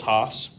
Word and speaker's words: Haas: And speaking with Chris Haas, is that how you pronounce it?